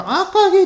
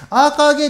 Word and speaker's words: AKG: このアーカーゲイって読むんですけども、 AKG と書いて、アーカーゲイっていうマイク自